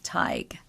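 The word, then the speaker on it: Tighe: okay she's a Virginia TIG Teague TIG I Googled it and the pronunciation was TIG TIG so we're going to go with that okay she lived in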